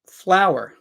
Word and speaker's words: flower: requested this one so flower and they are both pronounced ounc the same fler flower fler fler flower FL fler flow flower they're both pronounced the same there's no difference in the pronunciation flower this one though